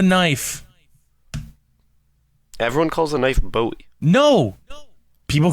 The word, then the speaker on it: Bowie: Bowie, Bowie, and Bowie. The right way. My right way. So you pronounce it Bowie, which no one else on the planet does.